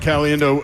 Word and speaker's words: Caliendo: The letter C, the word alien, and the word do. Frank CalienDo. That's my name.